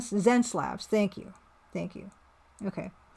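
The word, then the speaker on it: Xencelabs: it wcom I'm sorry pronounced Zen zenlabs thank you thank you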